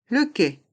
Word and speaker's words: quai: le qu le qu les lettres Q et U se prononcent que qu le qu le quai un siège un strapontin